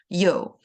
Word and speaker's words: Yeoh: And Yeoh is actually yang in Mandarin. So Yeoh is a more of a Hokkien, which is a Chinese dialect pronunciation.